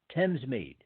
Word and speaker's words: Thamesmead: for Her Majesty's Prison that's on Western Way Tim's meet now especially for a few Americans Thamesmead is spelled th a.m.